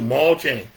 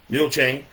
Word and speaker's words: Mule chain: Maul chain. Everybody ever heard of m chain? It's spelled m u l e like a mule. Mule chain.